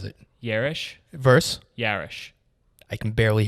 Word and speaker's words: Yarish: and yelling and so i kind of do more of like an uh air like a yarish and so it's just